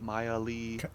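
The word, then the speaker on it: Mialee: star flower flower m-i-a-l-e-e Miley star flower but you say it like Miley like can I just say I noticed that you made her and it's Miley stylist like Miley Cyrus so yeah as she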